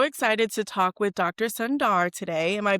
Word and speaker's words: Sundar: Sundar today. Am I pronouncing that correctly?